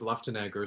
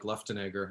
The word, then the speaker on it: Luftenegger: and licker um and my last name is luftnagger so i you know last names are always interesting i probably pronounce it the way the german would do because it seems to sounds really um german like your last name it is it's like schwarzenegger like luftnegger i know i always